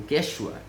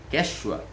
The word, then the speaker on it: Quechua: é o queixo a o Quechua Quechua né a pronúncia falar de forma castelhana é ele se localizavam